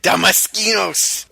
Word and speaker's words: Damaskinos: Damaskinos. Did I say it right? You did, and even with the accent, because they're all speaking a foreign language here, and this...